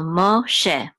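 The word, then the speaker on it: משה: is a shin and this is a segol which says e and this how you silence this will be just she so Moshe and um okay this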